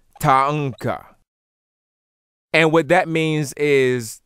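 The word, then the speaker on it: thangqa: In isiZulu, this word will be pronounced Ta-anka. And it's a very interesting spelling because the spelling in isiZulu would be T-H-A-N-G-Q-A. And it would be pronounced Ta-anka.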